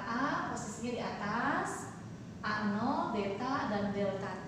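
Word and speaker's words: β: Selanjutnya, ini ya lambang ini dibacanya beta.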